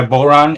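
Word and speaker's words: bodhrán: and whatever it is it's spelled b-o-d-h-r-a-n but it's pronounced boron okay and whatever i'm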